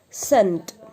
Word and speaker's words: scent: And the last one is scent. Scent. The peculiarity of all these words are every word has C in that, but we will not pronounce that C.